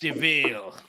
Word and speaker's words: Duvel: It's spelled like devil, but it's pronounced Deville.